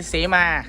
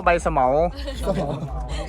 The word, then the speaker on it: เสมา: นี้ เ้า เรียก ใบ เสมา ใช่ ครับ เสมา แต่ ว่า แต่ ก่อน กู อ่าน ว่า ใบ สมมา เอ๊ กู เคย อ่าน